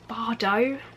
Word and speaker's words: Bardot: So basically the details of this is it is it Bardot? I don't think you pronounce the T in that word.